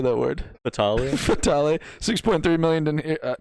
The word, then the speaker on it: Fatale: Fatale.